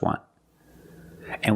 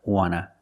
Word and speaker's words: want to: So we don't pronounce the T and we say wanna, wanna. I just want to eat. Want to or want to, you can pronounce it wanta or wanna. Both pronunciations are correct.